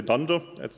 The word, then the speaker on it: dunder: They are pronounced, so not underscore, underscore, doc, underscore, underscore, just say dunder, that means the same.